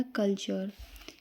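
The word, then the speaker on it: culture: प्रश्न ऐसे ही ये देखिए यू आर ई आया। तो हमने क्या पढ़ा? कल्चर।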